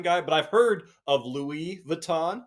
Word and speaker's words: Louis Vuitton: the biggest design guy but I've heard of Louie Vuitton said that right y yeah you said it